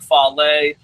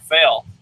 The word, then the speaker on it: Fale: hater of Bad Luck Fale for a long time. Matter of fact, I used to not pronounce his name right on purpose. I'd call him Bad Luck Fail.